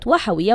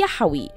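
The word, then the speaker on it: يا وحوي: والتي قالت فيه أن كلمة وحوي وحوي المرتبطة بشهر رمضان الكريم لا يجب نطقها بهذا الشكل، بل نقول يحوي، وحدث تحريف للكلمة.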